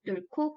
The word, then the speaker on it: 뚫고: 뚫고의 표준 발음은요. 겹받침 리을 히읗 중에서 뒤에 것인 히읗이 두 번째 음절 첫소리인 기역과 축약되어서 뚫고가 표준 발음입니다.